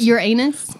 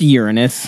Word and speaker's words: Uranus: it's it's really one is it your anus look i've been waiting the whole show i really thought referee can you control this it's pronounced uranus i know officially not